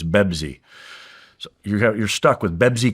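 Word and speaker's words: بيبسي: Now they don't pronounce the P word in Arabic, so it's Bebzi.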